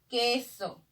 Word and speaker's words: queso: Dime, ¿en queso escucho la U? No, entonces no lo escucho.